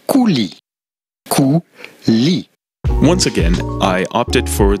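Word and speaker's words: coulis: yogurt with raspberry cooless in French this would be pronounced Kuli once again I opted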